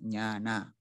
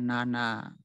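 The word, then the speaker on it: ñāṇa: Jadi aksaranya itu dibacanya, tulisannya itu seperti kata nyana itu dibaca nyana, panya dibaca panya. Saya rasa udah umum. Tapi bagi yang tidak tahu biasanya sering terjadi kesalahannya di sini. Orang yang tidak tahu mengatakan nana atau pana begitu.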